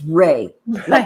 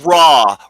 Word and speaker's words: Ra: Savage saying and doc it's not raw it's ray ray of Sun no it's raw raw is the how you pronounce the Sun God we're not going to